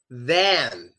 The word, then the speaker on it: than: The other word is than. It requires your mouth to open. It's like you drop your jaw, like you see a pretty woman. It's more like than.